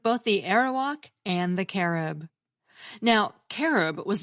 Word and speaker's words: Carib: that there was a hostile tribe called the Carib who inhabited other Islands nearby and Columbus wrote back to Spain recounting his experiences with both the arrowok and the carob now carob was not what the members of